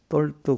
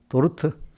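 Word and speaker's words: Dort: 똘 돌 도르트 근데 우리 옛날에 그 우리 거기는 우리나라 사람 발음에 우리 신학 사직에 보면 똘트라고 돼 있는데 원래는 이렇게도르트라고 부르는구나. 그니까 발음이 좀 달라요.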